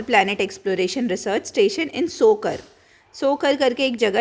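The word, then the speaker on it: Tso Kar: Proto planet, उसने launch किया है human outer planet exploration research station इन सोकर करके एक जगह है, टी इज साइलेंट इसमें, TSO में, लद्दाख में।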